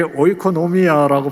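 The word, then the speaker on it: οἰκονομία: 저게 오이코노미아라고 발음하는이 섭리 또는 돌보심에 해당하는 말입니다.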